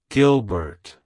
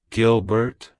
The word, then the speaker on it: Gilbert: French it's pronounced as Gilbert Gilbert Gilbert to pronounce it correctly emphasize the first syllable Gil and the Bert is